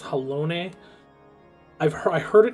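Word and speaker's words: Halone: is kind which honestly i cannot get over the fact that that is pronounced hellone i've heard i heard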